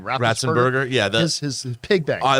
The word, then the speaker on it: Ratzenberger: John, how do you pronounce John's last name? Ratzenberger.